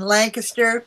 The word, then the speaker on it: Lancaster: in the boonies in Lancaster Pennsylvania I'm becoming a real Pennsylvania now because I'm pronouncing it correctly Lancaster instead of like faster originally I am from